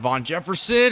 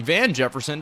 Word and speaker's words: Van Jefferson: Von Jefferson, actually Van Jefferson, doesn't matter. Doesn't matter how you say his name. He's just producing. I always incorrectly say it. It's Van, but I say Vaughn.